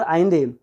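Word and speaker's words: Allende: तो these are some extract from the last speech of Salvador आइंदे, pronounce name है इनका।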